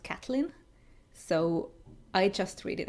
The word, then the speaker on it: Catelyn: I also pronounced Catelyn Stark as Caitlyn - from A Song of Ice and Fire - and at least in the show it's pronounced Cat-lin.